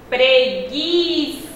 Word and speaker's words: preguiça: Preguiça. Observem que nessas duas palavrinhas existe o gue, o i, e na primeira palavra, linguiça, o som do u foi pronunciado. Porém, em preguiça, o u não foi pronunciado, formando assim um dígrafo.